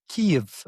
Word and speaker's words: Kyiv: Kyiv, I believe, is how you pronounce it. It's not Kiev, it's Yeah, Kyiv.